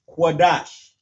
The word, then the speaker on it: Qadash: Qua, da, and sha turns to dash. Qadash. La, sha, wan, Qadash.